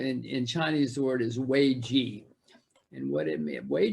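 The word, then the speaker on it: 危机: It's pronounced differently, obviously, but in Chinese, the word is wei ji.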